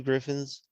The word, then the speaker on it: Gryphon: Have you heard of this guy called Two Gryphons? to you mean Griffins? See, I can do it too. Well, it's spelled Gryphon, so Yeah. could be Griffin. Two Griffins.